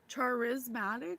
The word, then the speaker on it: charismatic: couldn't say it Charisma which is actually a really weird word because it's really spelled like Charis charismatic it's spelled like Char but it's charismatic so that's weird why not just take the H out you know my hair